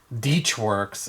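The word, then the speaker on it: Deutschwerks: it's a deutsche connector deutsch works or deetch works is how they pronounce it is the fuel system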